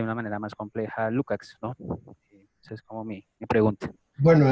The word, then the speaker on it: Lukács: manera más compleja de lukács es como me pregunto bueno en realidad habría que pronunciarlo como es lúkacs porque éste nunca suena como a un músico de rock listos y aves y